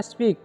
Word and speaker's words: speak: इसे स्पीक नहीं पढ़ना है, इसे पढ़ना है स्पीक, ठीक है। ए नहीं लाना है इसमें, ठीक है।